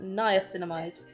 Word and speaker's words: niacinamide: amides news an amide niacinamide editing sarena here I have since learned that it's pronounced niacinamide this is like a anti